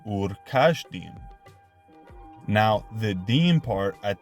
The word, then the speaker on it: Ur-Kasdim: The term Kasdim does not contain the letter Samek, but rather Shin. Therefore, the original pronunciation of Ur-Kasdim would have been Ur-Kashdim.